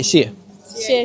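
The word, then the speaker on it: 谢谢: 谢谢. 谢谢. Are we saying it right? No. Yeah, you say it right. 谢谢. Yeah, stress the second word.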